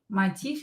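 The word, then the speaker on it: мотив: Motif is a motive. Motif. Motif. Here we have v, which will be pronounced as f if it's located at the end of the word.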